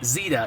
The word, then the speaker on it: Zeta: Well, if you know the actress Katherine Zeta Jones, that's how you pronounce Zeta. The E is strong because it's followed by a consonant and a vowel. So, it's it's Zeta.